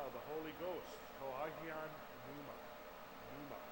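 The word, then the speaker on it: πνεῦμα: Pneuma, like words like pneumatic, means the Holy Ghost or the Holy Spirit.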